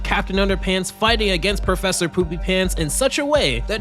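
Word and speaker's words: Poopypants: I pronouncing it right poopy pants more or less except the emphasis is on the poop why are you laughing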